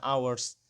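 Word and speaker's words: hours: ya walaupun ini hah tapi karena ini adalah silent H maka dibaca Ours nah University walaupun disini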